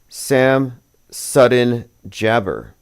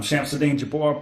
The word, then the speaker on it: Shamsuddin Jabbar: 4 years ago of Sam Sudden Jabber, or Sham Sudden Jabber. That is his name, Sham Sudden Jabber. I'm Shamsuddin Jabbar, property manager with Blue. Well, that's how you pronounce it.